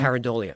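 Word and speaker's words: pareidolia: Paridolia. Paridolia.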